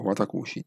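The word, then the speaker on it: 私: Quindi, si chiama Watashi o Watakushi, secondo la pronuncia. Si può dire sia Watashi o Watakushi. Di solito le donne dicono Watakushi e gli uomini dicono Watashi.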